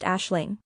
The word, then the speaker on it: Aisling: meaning dream or vision is pronounced Ashling it's a ash like the residue from fire and at Ling has